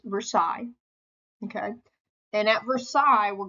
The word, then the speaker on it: Versailles: at Versailles okay now versales I know what it looks like but it's pronounced Versailles okay and at Versailles